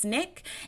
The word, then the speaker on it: SNCC: were the student non-violent Coordinating Committee SNCC pronounced Snick and the Congress of